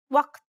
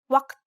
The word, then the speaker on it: وقت: The second aspect is that this letter is pronounced differently in different dialects. The previous pronunciation occurs in Standard Arabic and in the Arab countries of Northwest Africa, like Morocco, Algeria, Libya, and Tunisia. In Egyptian and Levantine dialects, this letter is a glottal stop, like the stopping sound in uh-oh.